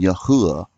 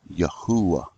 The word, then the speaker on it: Yahuwah: And I believe that is the correct pronouncing of his name, Yahuwah, with the vav is a wah sound, Yahuwah.